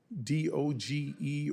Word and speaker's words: DOGE: May I ask you, do you work with any of the members of DOGE or DOGE? How do you pronounce the name of the committee?